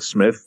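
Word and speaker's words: Psmith: one of the the Smith books I spelled PSM ith the P is silent yeah yeah yeah so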